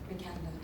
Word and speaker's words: Vikander: Your last name is pronounced Vikander or Vikander? Vikander.